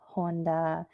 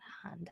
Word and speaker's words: Honda: you're saying that wrong it's not hunt it's honda like you don't have to